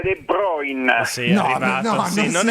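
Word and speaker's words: De Bruyne: Tra l'altro De Bruina, eh, ho sentito quelli bravi. De Bruin, De Bruina, De Bruina. De Bruina. Si pronuncia De Broin.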